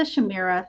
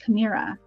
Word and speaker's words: chimera: However, later artists and writers give the Shamira 3 heads.